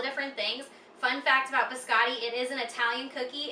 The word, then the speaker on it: biscotti: My dad bakes it every year for the holidays, and that is our biscati, or as my dad calls it, how you say it, biscotti. So, you have to say it like that while you're cooking it.